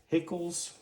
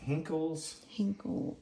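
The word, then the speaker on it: Henckels: I Can't pronounce that. It's Hickles, is that right? Hinkles.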